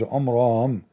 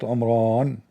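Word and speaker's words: Amram: In fact by the way it's not even Omran. He could not even pronounce the word correctly. It is Omram not Omran.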